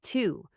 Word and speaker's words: to: For example, the word to, you probably learn to pronounce it like to with a clear ooh sound, right? But in natural speech, especially in the middle of a sentence, we usually reduce it to to.